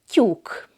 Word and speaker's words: tyúk: Again, there is no exact equivalent to this in English, but the sound in the word cube comes close.